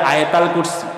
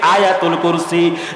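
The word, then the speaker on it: آية الكرسي: 255 255 নম্বর আয়াত, যারা বাঙালিরা কয় আয়াতুল কুরসি, এটা বিকৃত উচ্চারণ, এক্সাক্ট প্রোনাউন্সিয়েশন হচ্ছে আয়াতুল কুরসি।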